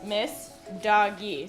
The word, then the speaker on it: Messdaghi: Yi and last name I know it's like wait how do you pronounce that it's miss doggy so it's like my